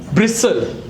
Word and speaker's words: bristle: Not Bristol, it is called bristle.